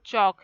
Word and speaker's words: chalk: Then chalk, here L is silent.